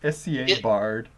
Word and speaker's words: Scabbard: Pronounced SCA Bard. Yeah, SCA Bard, Ska Bard.